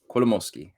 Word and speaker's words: Kolomoisky: Kolomoisky.